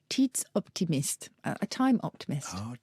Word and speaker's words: tidsoptimist: And they are in Swedish rather, I'm not sure how to pronounce this, so forgive me if I've got it wrong. Tidsoptimist, a time optimist. Oh, tidsoptimist.